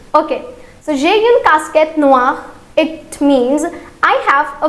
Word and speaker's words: noire: So in masculine it will be noir. In feminine it will be noir. Okay, so this is again an exception. So we have to keep the similar pronunciation for the color black. That is noir and noir.